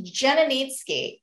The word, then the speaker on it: Janicki: Last name is Polish, Janicki. In Poland, it's spelled Z-D-Z, so they actually pronounce the J. But here in Canada, we just kind of turned it into a J, and it's a doozy.